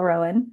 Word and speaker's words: Roan: we know, were sh- also trying to figure out how to pronounce her name, but we're pretty sure it's Chappell Rowan.